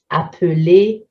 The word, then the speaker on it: appeler: Verbs in ELER endings, the L doubles before a silent E. Appeler, to call, nous appelons. You can see appeler, nous appelons.